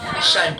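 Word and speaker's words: shan't: तो शाल plus not शालेंट हो गया। शालेंट नहीं होगा, ये क्या हो गया? शांत हो गया। इसको शांत या शांत दोनों प्रोनाउंस कर सकते हैं।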